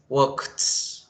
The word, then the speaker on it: walked: Ahora, esa ED, esa D o esa IED que le agreguemos va a sonar es con el sonido de una T.